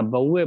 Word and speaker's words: Bouveault: इसको बोलते हैं बोए ब्लांक रिडक्शन या बउए Blanc reduction, B ओ यू बउए वी ई ए से बउए, याद करने में। ये ए यू एल टी साइलेंट होता है तो इसे बउए ब्लांक